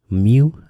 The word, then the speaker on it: mu: Mu, that's how you pronounce this.